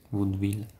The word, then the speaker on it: vaudeville: Vaudevilliano, come si pronuncia? Vaudeville.